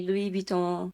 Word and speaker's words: Louis Vuitton: How do you actually say Louis Vuitton in French? It's Louis Vuitton. If you know French, please correct me. Is it Louis Vuitton?